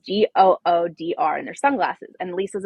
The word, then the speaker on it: Goodr: So, for example, one of our newest brand sponsors is, I think it's pronounced Goodyear, but it's Goodr, and they're sunglasses, and Lisa's obsessed with them.